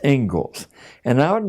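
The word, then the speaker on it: Inglis: The Engles lecture looks like English, but it's pronounced Engles.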